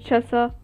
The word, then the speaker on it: Chasa: Ça se dit Chassa, d'accord?